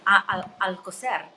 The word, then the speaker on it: Alcoser: And my last name is even difficult for, I mean, Alcocer. So Alcocer, Right. you're rolling of the R.